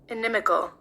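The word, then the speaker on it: inimical: And this is how it is pronounced. Enimical. Enimical.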